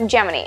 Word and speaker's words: Gemini: I think technically both are correct, but in old NASA footage and reports from the 1960s, it's pronounced Geminy. And that's where I've landed on it. Within 1 second of the scheduled time, Geminy number one lifted smoothly off the pad.